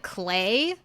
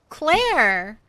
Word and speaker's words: Claire: And then I don't know why on the phone um on the phone people always like when I say my name they're always like Clay. I'm like no Claire.